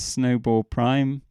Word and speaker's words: snowball': So this is an alternative version, which I've indicated by adding this, which is pronounced prime. So this snowball prime has this behavior where it doesn't overlay itself on top of itself that second time round.